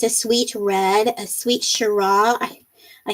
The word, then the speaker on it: Shiraz: Well, no, there's a Z on the end, so I pronounced it. I'm so sorry. Yes, the Z is silent.